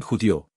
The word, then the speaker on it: judío: no J moderna pronuncian judío acento en la última sílaba y judía judia acento